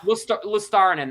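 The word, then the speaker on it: Luostarinen: Lustarin.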